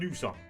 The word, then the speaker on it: nys: It's called at man nyser. You nys. N-Y-S. Nys. That is the Danish word for sneeze. So I sneezed. Jeg nys, and that is the Danish grammar is weird. But yeah, nys, that is the word for sneeze.